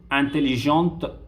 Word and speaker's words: intelligente: Okay, so you can see intelligent, intelligent, intelligente, intelligente. Okay, we'll be pronouncing till the t.